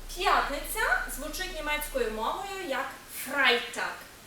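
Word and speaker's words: Freitag: звучить німецькою мовою як фрайтакк буквосполучення е і утворює звук ай тому в жодному разі не фрейтак а фрайтак фрайтак п'ятниця щодо суботи то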